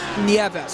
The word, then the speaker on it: Nieves: Is it Alvin Nieves? Nieves. Okay. So exactly what it looks like then.